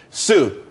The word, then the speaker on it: tsū: everyone could be happy Sue TSU it's pronounced Sue though that's that's a website.